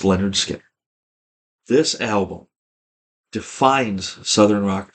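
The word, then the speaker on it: Lynyrd Skynyrd: that can touch this one and that is pronounced Leonard Skinner this album defines southern rock to me uh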